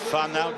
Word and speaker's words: whānau: It's a beautiful New Zealand word, whānau, W-H-A-N-A-U, pronounced whānau.